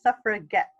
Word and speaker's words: suffragette: call ourselves tougher you suffer it get so the g-e-t is a hard G some sort of separate